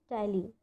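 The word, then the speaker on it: ptyalin: Please keep that in mind कि ये जो पी है वो साइलेंट रहेगा और इसके प्रोनाउंसिएशन को हम क्या कहेंगे, टाइलिन.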